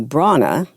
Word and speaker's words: Brahana: I have ever known today we're talking to Bron the the age is silent Bron and she is the second